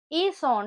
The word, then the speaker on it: ils ont: இதுல வந்து இப்ப என்னன்னு சொல்ல போறோம்னு சொன்னா நடுவே இருக்கிற எல்ல வந்து நாங்க ப்ரொனவுன்ஸ் பண்ண மாட்டோம். அப்ப என்னன்னு சொல்லுவோம் ஈசோன்னு சொல்லுவோம். முன்னுக்கு ஈஏன்னு சொல்லி அங்கால கடைசியில இருக்கிற எஸ்ஐயும் ஓவையும் லீசோம் பண்ணி ஈசோன் décidé d'aller au cinéma என்று சொல்லுவோம்.